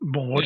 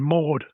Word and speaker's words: Maud: Not Maud Shaw, but Maud. Yeah, it rhymes.